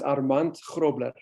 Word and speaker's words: Armand: anyone wants to know go ahead yes it's pronounced armand all right so i'm still practicing that's why